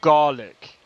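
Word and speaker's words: Gàidhlig: The Scottish Gaelic name for the language is I am not pronouncing that which is pronounced garlic.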